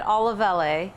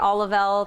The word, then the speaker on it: Olivelle: the name so it's it's technically said all of LA we say all of LA Olive L target tarjay we don't